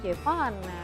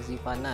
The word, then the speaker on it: Zivana: Karena bisa saja ya Pak Ustadz ya, harusnya Zivana, Kak Fathia bacanya Jevana. Silakan Pak Ustadz komentarnya. Baik, terima kasih Kak Fathia. Tadi kita dengarkan Ananda Zivana ya.